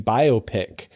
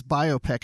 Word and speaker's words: biopic: have done that because i always thought it was biopic i don't know if i've heard the other pronunciation if i did i